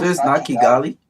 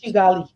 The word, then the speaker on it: Kigali: International Conference in Kigali it's chiali chali okay Rwanda yes and the international Nali no it's chali okay yes it's a German pronunciation chali yes um so after